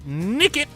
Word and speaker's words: Nickit: And Nickit. Nickit. I'm shaking my head right now. It sounds like the word naked.